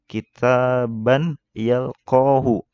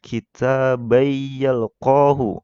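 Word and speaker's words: كِتَابًا يَلْقَاهُ: Kitaban yalqahu. Nah, itu kalau kita nggak tahu ilmunya itu bacanya pasti seperti itu ya. Nah, itu salah. Seharusnya dibacanya kitabayyalqahu ya, karena sini tanwin bertemu huruf ya, salah satu huruf idgham bigunnah ya.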